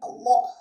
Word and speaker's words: Allah: in the word of Allah. This Laam must be thick if it is preceded by the Fatha letter. And when it is thick, it is pronounced as we pronounce law in English.